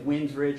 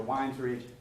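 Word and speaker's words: Wynnes Ridge: I've heard it pronounced two different ways, Winds Ridge or Wines Ridge.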